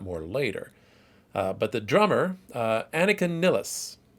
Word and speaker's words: Annika Nilles: But the drummer, Annika Nilles, I'm pronouncing it that way because my understanding is she is German.